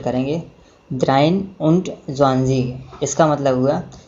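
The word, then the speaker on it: dreiundzwanzig: और इसी प्रकार हम 23 को प्रोनाउंसिएट करेंगे द्राइन उंट ज़्वांज़ीग।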